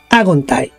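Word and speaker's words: ἄγονται: Agontai, haciéndole el acento en la A, agontai.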